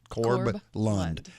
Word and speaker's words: Corb Lund: Yeah, and you can buy them at the merch table of his name, which is 4 in the front, 4 in the back. That's it. Corb Lund.